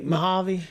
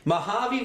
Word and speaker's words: Mojave: do you say this again you you you pronounce the track better than me Mojave Mojave Valley Raceway I I'm terrible at pronouncing stuff